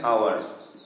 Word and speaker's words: hour: যেমন এখানে অ্যান আওয়ার, এখানে আছে দেখো এইচটা কনসোনেন্ট, উচ্চারণটা দেখো vowel sound, H ও ইউ আর আওয়ার, ও আসছে প্রথমে, এই জন্য অ্যান আওয়ার হলো।